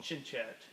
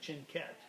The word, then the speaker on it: Cianchette: Cianchette, or some people say Cianchette, but I've always called it Cianchette.